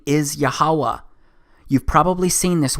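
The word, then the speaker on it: YHWH: H it's pronounced as yahuwah because it turns out that the language was so simple back then that it vocalized each consonant with an AA sound without specifically marking that sound between consonants so this yhw H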